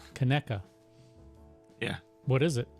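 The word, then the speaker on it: Conecuh: I don't even know how to pronounce that. Connecca. Connecca.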